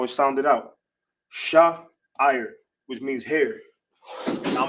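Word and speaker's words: שער: And how you say hair in the ancient Hebrew, how you pronounce it is sha'ir. Sha'ir.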